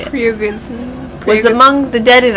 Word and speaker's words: Prigozhin: Yeah, Prigozhin.